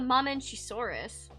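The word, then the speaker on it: Mamenchisaurus: So this is the Mame Chisaurus.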